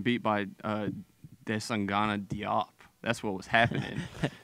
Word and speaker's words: Diop: by uh Des angana Diop that's what was happening jop by the way pronounced jop I don't he shouldn't